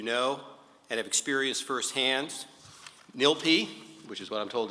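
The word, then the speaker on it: NYLPI: many of you know and have experienced firsthand nilp which is what I'm told is the correct pronunciation is a vital resource in our legal community and nilp has been a tremendous partner in helping City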